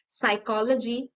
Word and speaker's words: psychology: For example, we have the most famous words psychology, psychiatry, etc. where the initial P sound is ignored and is pronounced as the word starting with a S.